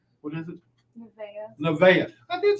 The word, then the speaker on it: Nevaeh: because i say it wrong what is it nevaeh i did say it right the last time